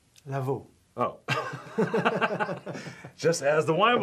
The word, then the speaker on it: Lavau: Lavau.